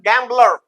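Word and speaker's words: gambler: यहां देखिए गैंबलर अब ये दो दो वही दो सिलेबल है गैंबलर अब ये गैंबल से बना है तो गैंबलर यहां पर एम और बी दोनों प्रोनाउंस हो रहे है इसी तरह सोबर सोबर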